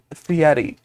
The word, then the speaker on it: Fieri: It's a Guy Fieri masks. It's Fieri, first of all. Yeah, I said it right. I said it right when I pronounced it earlier, and that's all.